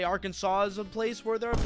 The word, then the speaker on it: Arkansas: Is that how you say Arkansas? That looks. You should pronounce it as Arkansas.